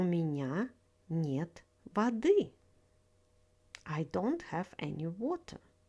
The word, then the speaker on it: воды: Воды is the plural form of the word вода. Stress falls on the first syllable.